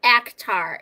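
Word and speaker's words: ACOTAR: out the decorations Christina it's spelled actar a k t a r it's not a quart of thorns and Roses a quart of THS and Roses is very spicy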